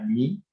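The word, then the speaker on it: μ: Esta unidad, esta letra griega que se conoce como la letra griega mu, aunque en griego se pronunciaría mi, pero muchos le conocen como la mu, es de microsegundos.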